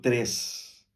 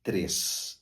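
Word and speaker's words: tres: como dizemos no português nós dizemos três é natural três mas não se diz em espanhol se lê tal como se escreve t r e s TRS e não tem o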